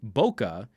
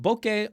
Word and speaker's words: bokeh: Steve DeRoche, bokeh is not pronounced bokeh, but bokeh almost kind of rhymes with porque.